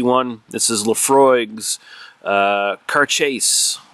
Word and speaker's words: Cairdeas: this is laphroaig's uh car chase or car chess it's pronounced something along those lines it's in gaelic so it's actually pronounced differently than how it's uh spelled out in english but this is